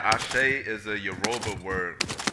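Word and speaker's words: àṣẹ: Nigeria the Arobin language the word I shake is spelled ast with the accent over I say means that whatever whatever it is that you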